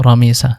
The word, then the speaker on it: রামিসা: এবং আরবি শুদ্ধ উচ্চারণ হলো রামিসা যার অর্থ সাদা গোলাপ।